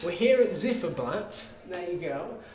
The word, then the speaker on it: Ziferblat: So we're here at how is it pronounced? Zifferblatt. We're here at Zifferblatt.